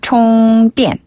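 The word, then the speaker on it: 充电: 총띠엔 총띠엔 맞아요. 네.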